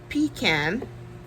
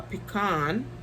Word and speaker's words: pecan: We have Pecan, or Pecan, depending on how you want to pronounce it, which is this burgundy-ish purple.